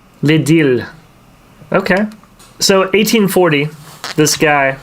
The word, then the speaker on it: L'Idylle: Well, it's an L before the I, so it's L'Idylle. Yeah. L'Idylle.